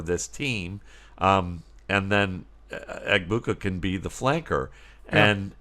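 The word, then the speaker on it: Egbuka: Eggbuka.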